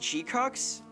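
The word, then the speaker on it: GQuuuuuuX: No, no, it's pronounced G-cucks.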